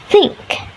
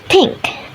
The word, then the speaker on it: think: Think in IPA is pronounced as think. Well, the Indonesian learners often pronounce it as pink. This occurs because of the substitutions with a dental plosive t.